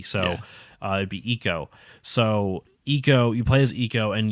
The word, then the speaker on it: Ico: game is you play as a character named eco we always said aiko because that's a very americanized way of saying